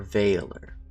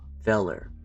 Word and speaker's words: velar: Velar or Valer. Velar, not Velar. Velar. Or Valer. I don't really like A. We're going with Velar. That's how I'm pronouncing it.